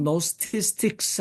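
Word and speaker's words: Gnostics: 여러분들 이제 사전을 찾아보시면 많이 나올 텐데 제가 여기에 그 영지주의 그다음에 그 그노시스라고 헬라어로 그대로 썼고 노스티스틱스 해서 앞에 묵음입니다.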